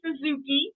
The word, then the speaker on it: Suzuki: getting to meet Terry Suzuki like the motorcycle we were just talking